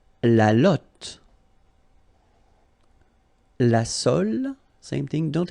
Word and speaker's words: lotte: And then la lotte, final E not pronounced, lotte, lotte.